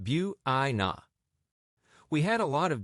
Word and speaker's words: Buena: We went to the Yakama Valley of Washington to a funky little town called Buena, pronounced Bua.